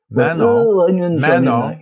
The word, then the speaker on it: Manon: Manon. Don't pronounce the N.